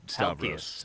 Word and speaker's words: Stavros: Just say Stavros.